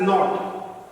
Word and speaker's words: naught: up becomes superscript and this superscript is pronounced as not and this knot will